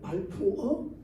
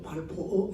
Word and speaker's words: 발포어: 그렇게 해서 선포한 것이 뭐냐면 영국 외상 발포라고 했는데 발포어 또 발포어 이렇게 발음하는데요.